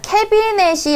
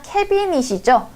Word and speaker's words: 캐비닛: 원음에 가깝게 우리 발음을 해줘야 돼요. 자, 캐비넷이 아니라 캐비닛이죠.